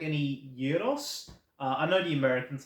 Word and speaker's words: gyros: I know how to pronounce things. Um, Alpha, beta, omega. Anyway, yeah, gyros.